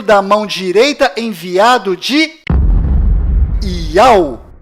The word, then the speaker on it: Yauh: nome do Criador é Iau, e a última letra do seu nome tem som de H mudo, do qual não altera a pronúncia deste nome.